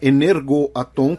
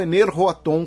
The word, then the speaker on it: Energoatom: Energoatom com G na pronúncia ucraniana ou Energoatom com H na grafia russa.